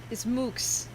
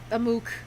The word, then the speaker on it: MOOC: Another thing related to community classes is MOOCs, or at least I think that's how it's pronounced.